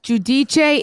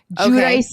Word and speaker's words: Giudice: Giudice is more Italian. Giudice is the American way.